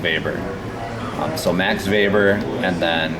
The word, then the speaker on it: Weber: Faber with a w so he's a German guy looks like Weber like Charlie Webber but it's pronounced baber so max labor and